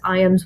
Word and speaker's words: Ijams: So I always point people to IAMS Nature Center, and that is IJAMS, but it's pronounced very similar to the dog food, IAMS.